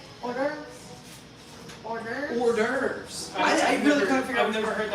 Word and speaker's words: hors d'oeuvres: Oh, it's the way it's spelled? Orders? Hors d'oeuvres. Hors d'oeuvres. Yeah, it's like It's, no. I've never it's heard spelled that. like hors d'oeuvres. Come here. It's spelled like what?